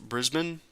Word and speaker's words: Brisbane: By the way, it's pronounced Brisbane. Brisbane?